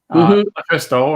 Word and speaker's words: LuFisto: All right, and Lufisto, am I pronouncing that correctly? Is it? Yes. Lufisto?